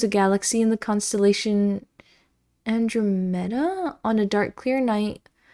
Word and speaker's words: Andromeda: Emphasis on two. Yeah, two. Oh, Andromeda.